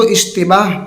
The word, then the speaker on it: اشتباہ: دشنام گالی گلوچ، اشتباہ، اس لفظ کو اشتباہ پڑھنا ہے اشتباہ نہیں، اس لیے کہ اس کا عربی کا صحیح تلفظ ہے اشتباہ۔ شبہ شک، شہادت دینا